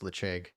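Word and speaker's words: Ledaig: this uh is the lechague which um by the way um l-e-d-a-i-g is pronounced lecheg um beautiful go go figure um that's probably one of the strangest uh Gaelic pronunciations that I know of um also let me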